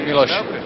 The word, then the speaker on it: Miloš: Thank you for the congratulations, and pronunciation is. And the first name, Christian name? Miloslav. They call me Miloš.